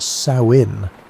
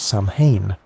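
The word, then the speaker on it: Samhain: Samine was a festival that people pronounced sawin like the female pig, not Sam Hayne, which is what most people think.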